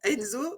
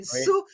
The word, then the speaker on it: Enso: Moi, je l'ai prononcé comme le prénom Enzo, mais c'est Oui. Enso. C'est pour ça qu'il y a un petit zouizoui au-dessus du haut.